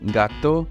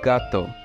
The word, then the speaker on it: gato: of certain words, like incorrectly saying gato instead of gato for cat in Spanish.